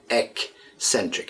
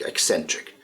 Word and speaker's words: eccentric: Again, be careful with the pronunciation. E-C, eccentric, eccentric.